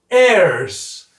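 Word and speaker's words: heirs: 자녀이기 때문에 We are airs h음 는입니다 주의하세요 h 발음이 안나요 이렇게 발음이 안 나는 걸 뭐라 하냐면 사이트라고 합니다 사일런트 silent 그래서 h is silent h is silent 그래서라 뜻은음 발음은 우리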